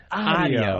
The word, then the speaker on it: audio: They teach you to envision certain words instead of audio, which would, I guess if you had to spell it out, would be AWDIO. But they tell you AHHHHH.